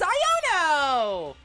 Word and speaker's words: Iono: It was ions, like ions. So it was Iono Zone. I thought you were also pronouncing it L. I thought you also said No! It's Iono!